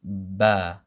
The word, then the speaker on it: ب: you once you release it makes the sound bah bah and this is exactly the same sound that you get when you say this word bag bag bag bag